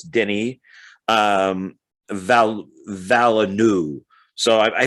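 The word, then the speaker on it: Denis: um and uh uh even though his first name looks like dennis you don't pronounce the s so it's denny um val valenu so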